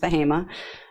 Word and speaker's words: Bahama: of North Carolina called Bahama spelled Bahama but pronounced behema and we're about 25